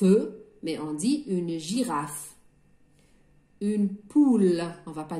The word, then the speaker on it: girafe: prononce pas y aller il est muet on va l'écrire mais on ne va pas dire une girafe eux mais on dit une girafe une poule on va